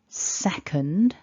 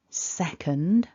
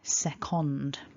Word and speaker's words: second: we pronounce it but with the second syllable we write that schwa as an o and so many many people have the tendency to over pronounce and say things like second with that o and